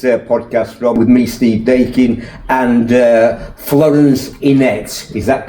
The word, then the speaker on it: Dakin: My name's Steve Dakin, and people call me Deakin, they call me Dakin, and it drives me nutty.